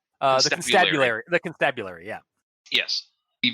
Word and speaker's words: Constabulary: Constabulatory? The Vernon Constabulary. Constabulatory? No, there's no T. There's no second T, rather. The Constabulary.